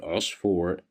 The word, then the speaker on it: عصفور: Here we have the word usfur. The letter ayn is controlled by dhamma, so that's why we pronounce it as u, usfur.